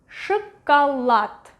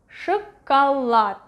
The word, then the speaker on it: шоколад: Next one, шоколад, шоколад, шоколад. The stress is over here. This one is next to the stress syllable.